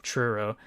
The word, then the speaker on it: Truro: from the UK the city of trudo TR Truro gotta say it right I'm so man I